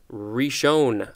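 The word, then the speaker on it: Rishon: I SH o n rish own I think that's how it's pronounced a dar riche own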